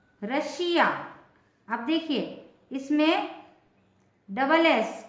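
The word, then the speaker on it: Russia: से देखिए और समझिए यदि किसी वर्ड में एस या डबल एस के बाद आई ओ एन या आई ए हो तो एस का उच्चारण श होता है ठीक है श फॉर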